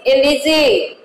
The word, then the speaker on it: elegy: It is elegy. E-L-E-G-Y. Elegy. And but we pronounce it L-G. Okay, children?